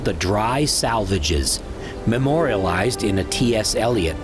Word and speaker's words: Salvages: rocks called the Dry Salvages, memorialized in a T.S. Eliot poem by the same name, where they were made to rhyme with assuages.